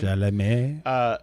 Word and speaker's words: Chalamet: Paul Atreides is Timothy Chalamet, I think is the way he Chalamet. pronounces his name. Chalamet.